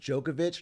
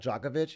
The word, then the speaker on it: Djokovic: be invited the more it's pronounced Djokovic not Djokovic yeah but Djokovic sounds like he's got a jock itch or something there's a joke there